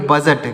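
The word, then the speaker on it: budget: जी ई तो इसको इसमें क्या साइलेंट है इसमें डी साइलेंट है कैसे पढ़ेंगे देखिएगा तो देखिए इसको क्या पढ़ेंगे बी यू डी जीटी तो इसको पढ़ेंगे बजट क्या पढ़ेंगे दोस्तों बजट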